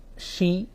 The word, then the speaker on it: Shi: उसने कहा कि मेरा नाम शी पी पू है। जो स्पेलिंग थी, शी SHE नहीं बल्कि SHI, लेकिन उसको प्रोनाउंस करते थे शी।